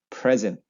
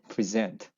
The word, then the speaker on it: present: and they would say they would use the first syllable stress they would say present present present present right I'm going to give you a present present but if it is a verb they would say present the second syllable stress present and you can also